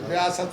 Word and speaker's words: रियासत: रियासत है। ये उच्चारण का थोड़ा सा फर्क है।